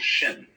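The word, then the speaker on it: 心: In Chinese, mind is this word pronounced shin.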